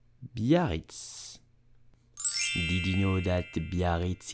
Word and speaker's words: Biarritz: Ah, so how do you pronounce it correctly in French? You will say Biarritz. Biarritz. Biarritz.